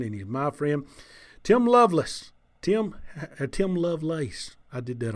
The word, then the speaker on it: Lovelace: Some people say Lovelace, some Lovelace. It is actually Lovelace. You said it right.